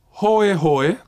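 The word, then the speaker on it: hoehoe: In Classical Hawaiian, there are hoe hoe, to paddle a canoe, and hoi hoi, interesting, fun. In revitalized Hawaiian, both words are pronounced the same, hoi hoi, reflecting American English, which fails to distinguish between the diphthong oe and the diphthong oi.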